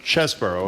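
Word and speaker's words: Chesebro: these three people Sydney pal Jenna Ellis and chesboro that's how you pronounce are going to jail it seems to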